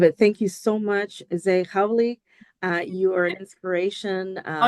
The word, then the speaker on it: Zeï Khauli: always I love it thank you so much z howy uh you inspiration um oh you pronounced my my last name amazing thank you